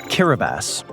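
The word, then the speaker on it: Kiribati: Kiraabas. And yes, that is how it's pronounced.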